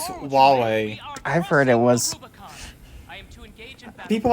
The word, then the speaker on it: Huawei: of the United States for it it's not pronounced Hawaii already it's it's Huawei I've heard it was people have different ways